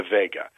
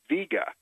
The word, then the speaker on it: Vega: after Vega called the Vega the actual pronunciation of the star and few people know this is VGA that's of course not